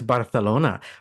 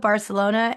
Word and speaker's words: Barcelona: Ah, yeah, it's Barcelona because the Spanish people who live there have that extra TH.